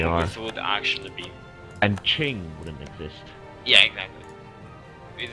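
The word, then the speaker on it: Qing: like is it pronounced quing or Ching or is it pronounced Joe or zo or z i don't even as it said I left the game yeah it's ching and Jo hey if you put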